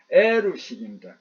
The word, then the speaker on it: 에루식: HEROUL 이게 영어 스펠링 같지만 에루식입니다.